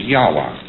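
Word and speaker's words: Yahweh: So Lord knows how this word is to be pronounced but more agreed upon pronunciation among scholars so they could talk about it is Yahwa.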